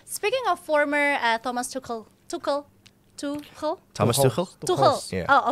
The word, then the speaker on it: Tuchel: Is Tuchel the right man to lead England despite his nationality? Let us know on the comment section below. All right. Speaking of former Thomas Tuchel.